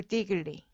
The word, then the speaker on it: Diggory: There's no one here, said Polly over her shoulder to Diggory. Diggory. Diggory. Gory. Diggory. Diggory. Diggory. 고리. 고리요? 아니, diggory. D 한 다음에 고리는 발음으로 힘을 빼고 diggory.